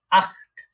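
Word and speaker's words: acht: বা জার্মানরা বলে থাকে আট, আট, খ, আট, একটু খ এর মতো উচ্চারণ মাঝখানে আট। আমরা দেখেছিলাম সেহা এর আগে যদি আ থাকে তাহলে এটা খ এর মতো উচ্চারণ হয় আট।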